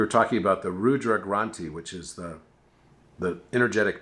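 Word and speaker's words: Granthi: it but it's pronounced granti same thing it's like sounds like grant and so I was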